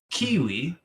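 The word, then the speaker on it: Keywe: this is a curious title kiwi that is spelled k-e-y-w-e on the playstation 4 and 5. not to be confused with the fruit it's already out on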